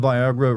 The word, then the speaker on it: Viagra: Does anyone know that Viagra rhymes with Niagara?